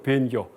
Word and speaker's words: 본교: 그러니까 변교. 보통 책에서 본교라고 하는데 발음은 변 읽는 게 옳습니다.